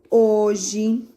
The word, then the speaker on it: hoje: Então, todas as palavras que começar com H, ele não vai falar nada. Hipopótamo, hoje, hora. Observa que o H, ficou mudinho e a letrinha que veio à frente, que é a vogalzinha, falou primeiro.